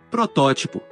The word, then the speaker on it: protótipo: Algunas palabras conocidas como heterotónicas son iguales en ambos idiomas, pero difieren en la sílaba tónica. Academia. Academia. Alergia. Alergia. Atmósfera. Atmosfera. Nivel. Nivel. Prototipo. Protótipo.